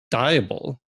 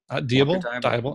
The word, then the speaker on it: Deibel: But I do have somebody here, Deibel, right? Deibel. I've been pronouncing it Deibel for a while.